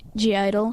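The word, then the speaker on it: (G)I-DLE: Some people say that it's pronounced idol, but I wonder why is there a G in it if you're not supposed to Fair pronounce question. it? Because in Korea it's Yeoja Idol, which means girl idol. So obviously the G stands for girl.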